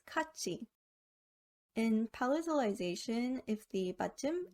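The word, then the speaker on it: 같이: can be seen in the word katsi meaning together cut is pronounced as kachi in palatalization if the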